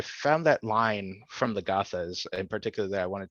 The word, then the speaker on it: Gathas: and and so the book is called The Sacred Gathas, right? Am I Hmm. saying it right? Of Zarathustra. How do you say, could you say it? Oh, no worries, no worries. So it's the sacred Gathas of Zarathustra and the old Avestan canon.